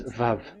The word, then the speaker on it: Vav: So the word, the shape Vav is really pronounced V, like Vogue.